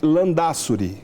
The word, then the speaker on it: Landázuri: vamos apresentar então é beata guadalupe ortiz de lã da suri é assim que pronunciam andar sobre a espanhola é fazer uma natural